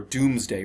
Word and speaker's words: Domesday: it is called the domesday book or doomsday book is how it's pronounced but it's domes day